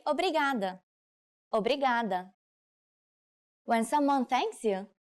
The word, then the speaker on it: obrigada: you are a woman you should say Obrigado obrigada when someone thanks you how should you answer